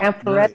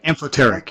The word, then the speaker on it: amphoteric: amphoretic, Right. is that how you say it? Amphoretic, right? Amphoteric, yes. Amphoterism. Amphoteric. Amphoteric, sorry. Yeah, please.